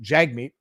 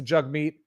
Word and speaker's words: Jagmeet: it jug meat to be i was always pronouncing it jagmeet and apparently it's pronounced jug meat so let's hear this let's hear this this